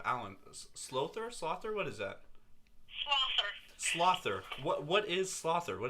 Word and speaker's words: sLoather: Slother. Slother. What is Slother? What does that mean? Sloth. Sloth. Why the ER? So, because if it was sLoatherAllen, it would make no sense. But So I put Slother does.